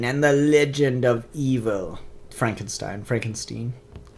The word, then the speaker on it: Frankenstein: the legend of evil Frankenstein Frankenstein it's pronounced frank enstein Sherlock Frankenstein in the